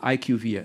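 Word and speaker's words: IQVIA: us Kim is the chief privacy officer of Ike UVA and I pronounced it right I plain I trained before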